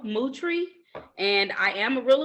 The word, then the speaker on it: Moutry: illinois yep and and and my name is pronounced like the car camaro and i tell people my last name is mootree move like a cow and tree outside that's